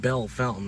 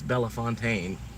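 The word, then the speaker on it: Bellefontaine: That's It's not Bell Fountain. That's Bella Fontaine. Think they do that in Florida, too. They just pronounce it the old redneck English way. Bell Fountain. Bell Fountain. It's Bella Fontaine.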